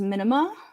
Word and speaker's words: minima: The plural of minimum is minima, but yes, I agree with everything else you're saying.